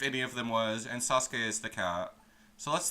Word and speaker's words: Sasuke: Apparently, you're supposed to pronounce the oo in Sasuke, but nobody does. Nobody in the English fandoms does.